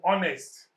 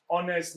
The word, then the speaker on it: honest: Or honest. Example sentence. My brother is an honest man. Honest starts with H. But though H is a consonant, it sounds like a vowel.